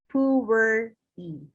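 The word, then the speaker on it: Pu'er: china region yunnan and china so it is pronounced as pure e so companjum materia medica it's a book that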